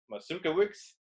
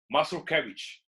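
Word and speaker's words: Mazurkiewicz: and and he was like there is two pronunciations the american one which is masuka weeks and the original one which is poland and that's muscle cabbage so cabbage which is correct that's correct exactly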